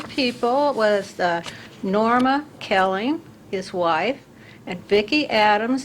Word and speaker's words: Koelling: Kelling is that the way you pronounces it's pronounce and spell your full name for us please my name is Kelling and and a is for